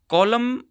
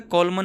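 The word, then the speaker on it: column: है एम के साथ सॉरी कॉलम बोला जाता है कॉलमन नहीं बोला जाता हाइमन नहीं हाइम बोला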